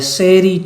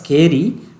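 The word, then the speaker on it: chery: ascribe it to a serie child c-h-e-r-y is pronounced not as scary but it is the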